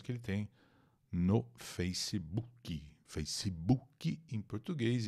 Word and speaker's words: Facebook: ele tem no Facebook Facebook em português em inglês Face b boc a boca fica meio mole assim não é bu não é o som de u é um som de o boca boca e share